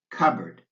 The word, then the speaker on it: cupboard: the L in folk the P in cupboard the T in fasten and the W in answer plumber folk cupboard fasten answer watch out